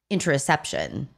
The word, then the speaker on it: interoception: Okay, so today we wanted to tackle what is interoception.